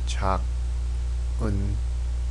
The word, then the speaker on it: 작은: The G sound kind of connects over to this next syllable here, because we have the silent consonant O. It's silent when it's placed in the first position. So it becomes 작은, 작은, 작은.